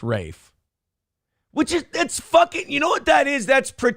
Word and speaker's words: Ralph: I always thought it was Ralph, too. Like the spelling was Ralph, but apparently I'm an How do you spell Fine's first name? Ralph, but pronounced Rafe, which is that's [